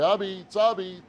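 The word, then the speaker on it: apizza: But you don't call it pizza around here. My grandfather first used to say, Abits.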